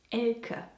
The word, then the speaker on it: Ela: Anyway, the name is actually pronounced Ela more like El and so I said it perfectly at the beginning around here.